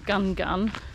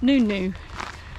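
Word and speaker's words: Ngungun: come and just started doing mountain spout in gun gun but apparently it's pronounced mount nunu but most people do point gun gun i'm not sure how far it is we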